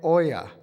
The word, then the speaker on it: Oja: Our first speaker today is Oya. There are many possible ways to pronounce his last name, so this is the correct pronunciation.